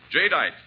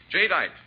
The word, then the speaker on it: jadeite: selling China wear and glass remember the name jite that's spelled j a d i t e j dite the newest Triumph of anchor Hawking the most